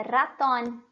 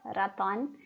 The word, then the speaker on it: ratón: Então, esse animalzinho que a gente tem na nossa língua portuguesa, o rato, em espanhol tem outro nome, tá? É ratón, ratón. Tem una tilde en la O al final, ratón.